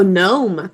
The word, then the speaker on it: gnome: Gnome and sign. Good. No would be the N, two-letter N. I said gnome. Oh, gnome.